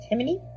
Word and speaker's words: Timoney: an update was My Husband's Child by Lisa Timoney or Timony? I give it a five stars. The author pronounces it or the narrator in the audio pronounces it Timony.